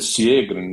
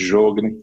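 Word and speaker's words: Sjögren: síndrome síndrome de jogr a pronúncia siegen né mas é e todo mundo conhece como síndrome de jogne doença própria doença celíaca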